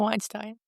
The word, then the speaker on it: Weinstein: Weinstein or Weinstein? It's Weinstein. Weinstein. It's spelled like Weinstein.